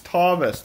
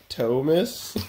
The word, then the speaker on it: Thomas: So I'll tell them how to say my name properly, and it's it's the funniest thing to see them like try to say my name with the normal letter O sound.